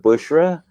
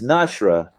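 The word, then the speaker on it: نُشُرًا: As for the word bushra the people of Medina and Bosra used to recite it. Nashra pay attention with me. by pronouncing the noon and sheen with a damma. Just like that. It's Nashra, not Bushra.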